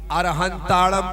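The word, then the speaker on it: अरहंताणं: तो इसका उच्चारण, बाकी अरहंताड़म बोलो या अरिहंताड़म बोलो, दोनों में कहीं से कहीं तक कोई प्रॉब्लम नहीं है।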